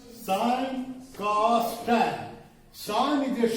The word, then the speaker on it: sine: What is sine and cos and tan? Introduction, history of this. So this is the sine, not sin. Some students pronounce this word is sin.